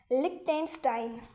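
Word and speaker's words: Liechtenstein: सो इसको प्रोनाउंस करते हैं। लिक टेंस्टाइन लिक टेंस्टाइन ओके चल ठीक है तो ये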